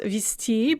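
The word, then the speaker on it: везти: a good to run multi-directionally via t it's pronounced visti but it's spelled vsd is to transport by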